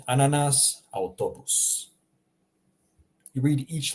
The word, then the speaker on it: autobus: Notice how I'm pronouncing in Croatian. I'm reading every single letter. Okay? There are no special examples, like I said, in French, for example, where you don't read a whole bunch of letters.